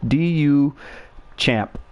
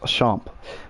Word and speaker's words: Duchamp: can look it up Duchamp do you champ but it's pronounced a shop but but yeah he